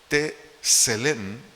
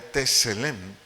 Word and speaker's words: Tselem: Entonces, dice aquí Génesis 1:27 que Dios nos creó a su imagen, la palabra imagen del vocablo hebreo, Tselem, S-E-L-E-M, acento en la primera E, Tselem.